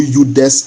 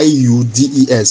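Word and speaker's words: judex: maxim known as neu udes in Kosas. Please the spelling is ju J u d e x but the pronunciation is y u d e s.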